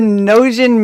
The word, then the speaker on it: Gnosian: episode one of dice Dames and dudes the noan mystery did I say that right yeah yes